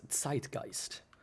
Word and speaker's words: zeitgeist: How it just kind of stays in the cultural zeitgeist. Or if it's correctly pronounced, zeitgeist. Because the Z is not pronounced so weakly. Right? Real men pronounce it like a very hard letter.